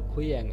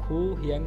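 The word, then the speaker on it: 고향: মানে খান বলতেছে নে হ্যাঁ উড়ি মানে আমাদের খুইয়াং, আর এই উচ্চারণটা আপনারা একটু লক্ষ্য করবেন, এটা উড়ি মানে আমাদের খু হিয়াং কিন্তু হবে না, খুইয়াং মানে আমাদের জন্মস্থান।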